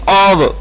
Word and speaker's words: of: है, रीड करना है, तो उस वक्त आप इसको ऑफ नहीं पढ़ेंगे, फे की आवाज नहीं देंगे, बल्कि आपने आवाज देनी है वाओ की, ऑव, OF, ऑव।